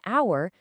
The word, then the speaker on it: hour: But we say an hour because the H is silent, giving us a vowel sound.